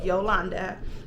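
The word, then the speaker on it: Jolanda: Yes, it is spelled with a J. Yes, it is pronounced Yolanda.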